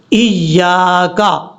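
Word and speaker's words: إياك: ادا کرنا ہے۔ کیسے، ایاک، ایاک، یعنی یا کے آگے الف ہے، اس کو لمبا کر کے پڑھنا ہے۔ اب اس کے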